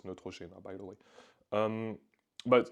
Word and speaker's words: Neutrogena: that got restricted Is Neutrogena um which is not the right way to pronounce it it's Neutrogena by the way um